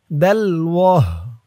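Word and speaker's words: دَلْوَهْ: উচ্চারণ হবে দালওয়াহ।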